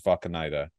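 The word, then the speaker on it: Wakanida: Who's the character's name is Vakanida, and it's the German pronunciation because it starts with a W, so other people would just say Va, but like spell it with a V.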